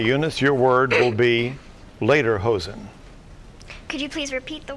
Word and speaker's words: lederhosen: or correct ok Eunice your word will be later hosen could you please repeat the word later hosen could you please use it in a sentence